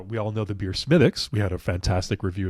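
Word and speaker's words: Smithwick's: know we've had conversation but Smith it's not Smith Wix Smith Wix as we do it is smithx they thought that smithx might be a little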